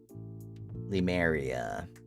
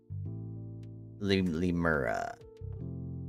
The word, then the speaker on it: Lemuria: Lemuria? Lemuria. Lemura. I keep saying it wrong.